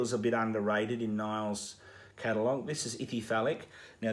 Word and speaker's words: Nile: You got to say Nile.